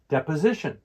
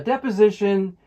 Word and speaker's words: deposition: For the pronunciation for deposition, the stress for this word is on the third syllable, the Z sound, deposition.